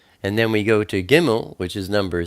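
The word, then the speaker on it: גִּימֶל: So now we turn to Gimel. Gimel is the number 3, and it's pronounced like a G, like get.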